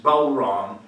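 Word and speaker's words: bodhrán: And appropriately, I'm playing the Bowron, which is made of goat skin. When they run out of goat skin to make the Bowron, which is spelled B-O-D-H-R-A-N, but pronounced Bowron, when they run out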